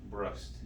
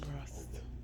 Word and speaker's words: Brust: Brust. Brust. Brust. Rhymes with trust and Yeah.